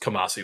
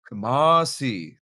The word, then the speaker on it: Kamasi: By the way, his uh name is uh pronounced Kamasi Washington. Kamasi.